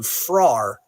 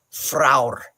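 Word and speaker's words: frár: frar, F-R-A-R, but it's, if you look at the Nordic one, there's a dash above it, so it's fraur. And the R at the end is its own syllable, so it's most likely fraur, because R's are often added as their own syllables.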